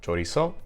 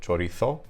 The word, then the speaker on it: chorizo: like chorizo, the food, in Spanish I have chorizo or chorizo, depending on whether I'm from Latin America or Spain. And then in Portuguese I have chorizo, chorizo. So it's a show sound in Portuguese, where it's a ch sound in Spanish.